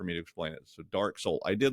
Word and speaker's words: DarkSeoul: uh my favorite is Dark Soul which is spelled SE o l you know like Soul South Korea yeah get it I